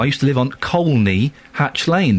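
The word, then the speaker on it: Colney Hatch Lane: I used to live on Coy Hatch Lane. There is an L in it. You pronounce the L. Coy Hatch Lane.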